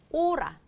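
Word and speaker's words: hora: 거 시간 이런 뜻인데 이거 호라 아니고 오라 그렇죠 그렇게 쓰셔야 된다는 거죠 뭐 이런 것도요 이렇게 있으면요 이거 호라류 아니고 뭐다 오라리오다 그냥 없다고 생각하시면 돼요 그렇죠 그래서 얘는이 자체가 묵음이에요 그러면 말이죠 얘가 원래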